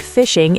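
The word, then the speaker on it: phishing: Fun fact, the word fishing is pronounced like fishing because the scammer is fishing for your passwords and information using a hook, the fake email.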